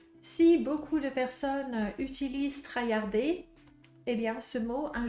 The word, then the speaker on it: traillarder: try hard et oui try hardard avec une prononciation française ça fait trard et puis après quand je l'écris avec les règles d'écriture française trayarder c'est parfaitement logique donc